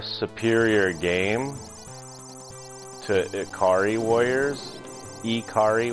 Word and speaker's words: Ikari: game to ikari Warriors ikari Warriors that's how you pronounce it or ikari you want to really be technical about it but yeah Guerrilla war